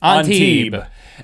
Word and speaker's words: Antibes: And one of the places that my wife saw that you were supposed to go was Antibes. You don't pronounce the S. If you're an American, you do. Antibes.